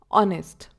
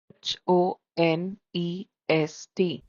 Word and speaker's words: honest: H is silent at the beginning of a word. Especially in words borrowed from French language. For example, honest. We spell it as h o n e s t.